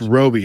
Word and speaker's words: Robbie: pronounced Roby, according to our co-host.